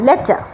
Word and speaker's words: letter: ঠিকটা হচ্ছে এইটা, লেটার। র কোনো সাউন্ড নেই, র যদিও লেখা রয়েছে স্পেলিংয়ে LETTER, কিন্তু সেই আরটা কিন্তু সাইলেন্ট থাকছে, প্রোনাউন্সড হচ্ছে না, এটা মাথায় রাখবেন।